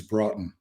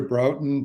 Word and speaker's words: Broughton: But the way I say it is Bronton. Um, I answer I answer to Broton, Brutin, Brooftton, Brogton. I answer to a bunch of those, but I say Broton.